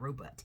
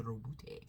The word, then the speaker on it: Roboute: It's not Robot, it's the Roboute. You gotta roll the R.